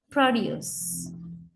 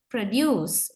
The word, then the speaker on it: produce: column here the stress syllable is the first syllable produce and the same word we can use as